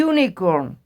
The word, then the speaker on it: unicorn: elefante un ángel hay Unicorn dice aquí la diferencia hay Unicorn en esta palabra la u se pronuncia como si fuera una y y único por eso